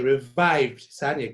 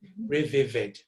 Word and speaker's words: revived: I have to say revivid. So when you control over the language, you can revivid. Okay. But because you have a control, you say revived. So revived. So don't say revivid.